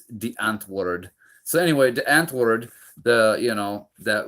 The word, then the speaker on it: Die Antwoord: It looks like Die Antwood, but it's Die Antwoord.